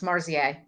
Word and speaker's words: Marziaz: Yeah, so it's just the last Z is silent, so it's Marziaz. Marziaz.